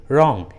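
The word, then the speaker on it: wrong: शुरू में रहता है, तब डब्ल्यू का उच्चारण नहीं करते, जैसे राइट, रिंग, रॉन्ग, रिस्ट।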